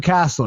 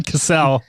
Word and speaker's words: Cassell: draft from the past today with the name pronunciation, and it's just the Sam Castle. Sam Castle, Sam Cassell.